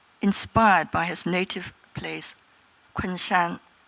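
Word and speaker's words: 昆山: His name Quincy may have been inspired by his native place, Kunshan. In Jiangsu, it would have been pronounced Kunse, which sounds quite like Quincy.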